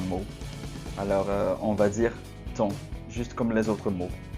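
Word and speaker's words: thon: C'est comme s'il n'y avait pas de H.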